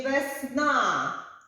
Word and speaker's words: весна: складів два один два поставимо наголоси в слові весна весна чи Весна весна на другому складі днем ставимо над голосним